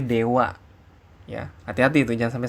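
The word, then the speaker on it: では: ketika awal-awal belajar ya padahal ditulisnya DH dibacanya Dewa Ya hati-hati itu jangan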